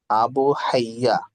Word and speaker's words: আবু হাইয়া: তিনি দেখুন, এই বলেন, শব্দটা হচ্ছে আবু হাইয়া। আবু হাইয়া দেখতে পাচ্ছেন, যদি আপনি হায়া বলেন, নাম কিন্তু শুদ্ধ উচ্চারণ হলো আবু হাইয়া। আরবি থেকে আন আন আবি হাইয়া, তো কমপক্ষে বলতে হবে আবু হাইয়া।